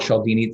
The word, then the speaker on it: Cialdini: is called influence um his name is robert chaldini the last name is spelled c-i-a-l-d-i-n-i um it's a really really interesting